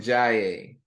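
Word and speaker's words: Ndiaye: do I find you the gems Usman and Jaye I'll spell that last night for you n-d-i-a-y-e Usman and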